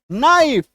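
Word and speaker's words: knife: पे है ही नहीं साइलेंट लेटर के केस में आप ये मान के चलिएगा कि वो शब्द में वो जो अक्षर है वो है ही नहीं वो वहां पे मौजूद ही नहीं है के एन डबल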